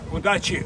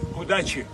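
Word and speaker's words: удачи: good luck in Russian uh good luck uh udachi udachi okay everybody out there udachu udachi udachi okay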